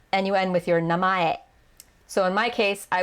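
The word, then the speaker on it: 名前: first name is your namae notice how it looks like if you're looking at the romaji it just looks like name that's misspelled with a typo in it but it's three syllables so you start with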